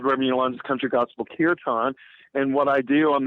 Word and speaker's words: kirtan: And then you have the curtain. Am I saying it right? Airtan. Oh, that's kirtan. That's right. So, I didn't say it right.